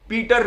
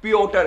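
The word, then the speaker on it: Piotr: पीटर नहीं है, पियोटर है।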